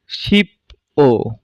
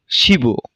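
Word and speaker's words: 십오: এই শিপ ও উচ্চারণটি ভুল। আমাদের বাসিমের নিয়ম অনুযায়ী বাসিমের বিয়োগ ইয়ং এর স্থানে গিয়ে তার মূল উচ্চারণে উচ্চারিত হবে। তাহলে সঠিক উচ্চারণটি কি হবে? শিব, যার অর্থ 15।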